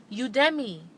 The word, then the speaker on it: Udemy: to learn go to u d e m y m-y udemy udemy okay that's how i pronounce it all right the last